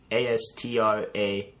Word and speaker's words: Astrakhan: Or A-S-T-R-A-K-H-A-N. Like, con. Astrakhan. Con!